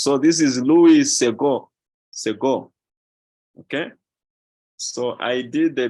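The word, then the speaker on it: Louis Segond: not pronounced as the in French the consonant at the end of the word is not pronounced so this is Louis Sego Sego okay so I did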